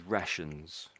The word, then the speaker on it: rations: I can't remember how you said it now, but we normally say this as rations.